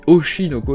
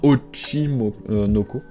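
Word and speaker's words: Oshi no Ko: de oshinoko pardon je je le prononce souvent mal et vous me reprenez des fois mais c'est vrai en même temps on dit osinoko et pas ochimoko call of the night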